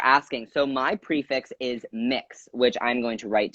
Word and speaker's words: Mx: break it down so mix for anyone who does not know is pronounced as an M IX is mixed like mix you like a cake speaking of which I